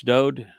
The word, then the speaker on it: Dowd: accept Yahweh's pronouncements that it's Dowd, who the world calls David. It's just a mispronunciation of his name.